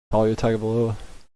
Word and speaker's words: Tagovailoa: Talia Tagovailoa?